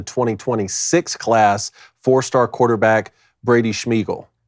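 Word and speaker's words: Smigiel: class fourstar quarterback Brady schmeel I can't I got to say schmeel I don't know any other way to pronounce it here it is s m i g i e l schmeel it's it's precious how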